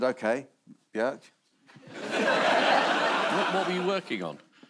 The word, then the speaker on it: Björk: Björk? Yeah. Well, I worked with Björk and she told me that's how you pronounce my name. Really? Yeah. And I said, OK, Björk.